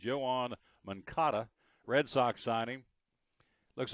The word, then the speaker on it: Yoan: talking about this for the show I'm Sor Johan Yan I should say y o a an but it's pronounced Yan Manata Red Sox signing looks like you may